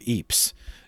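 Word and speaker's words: Ypres: was a bishop of eeps in belgium that's spelled y-p-r-e-s and there was an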